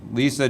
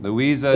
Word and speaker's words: Louisa: Dugan and I'm submitting sorry I already mispronounced your name Lisa Dugan Louisa Dugan yes thank you so much